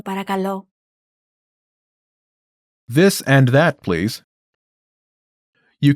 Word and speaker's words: παρακαλώ: Then repeat after me, focusing on pronunciation. Ready? Do you remember how to say please? Παρακαλώ. Παρακαλώ.